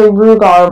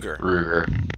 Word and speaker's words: Ruger: I want to say Rugar, but that's not it. Ruger.